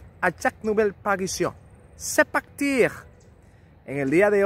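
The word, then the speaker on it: sept: suena como una s el 7 sep la p no suena el 8 with deben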